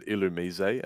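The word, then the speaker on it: Illumise: that caurus and it's an illusion right it's illumis no it's it's actually ilum because he's from France like I should no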